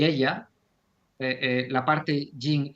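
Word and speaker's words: Él-La: siempre lo nombro como el la O sea el con el acento en la e y con la e mayúscula el o sea e l guion L A mayúscula para hacer referencia a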